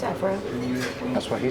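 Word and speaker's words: Évora: So apparently we've been saying Evora wrong this entire time. Evora. It's Evora.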